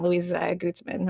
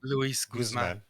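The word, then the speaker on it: Luis Guzmán: gomez if it wasn't louisa guzman or how do you say his last name luis guzman guzman there you go uh it was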